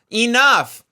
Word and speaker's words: enough: When they see it written out, they see the E, and then they say E, and then they say enough. And that's not how you say it. Enough.